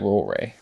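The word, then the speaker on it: Ruaridh: I think that's like Rory.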